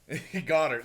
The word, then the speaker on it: Goedert: Goddard, sorry.